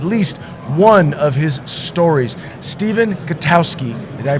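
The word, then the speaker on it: Stephen Gutowski: have read at least one of his stories Stephen katowski did I pronounce it right yeah you got it right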